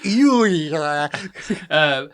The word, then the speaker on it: Euler: It's Euler."